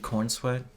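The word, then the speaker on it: Corenswet: And that I was telling you, Gunn's plan, he casted Cornsweat. Yeah, for Superman? Yeah, David Cornsweat. Yes. An unfortunate sounding last name. It's not spelled like that, though.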